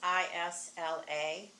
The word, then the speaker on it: isla: how do you pronounce ISLA?